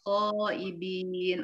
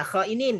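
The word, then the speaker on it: خائنين: Inna sesungguhnya Allah la tidak yuhibbu menyukai khaibin, orang-orang yang berkhianat. Iya. Syukran Ibu Ambar. Tadi Bu Ambar bacanya khaibin. Oh ya, khainin ya, khainin.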